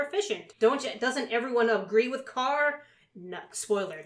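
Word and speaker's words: Karr: Carr, K-A-R-R.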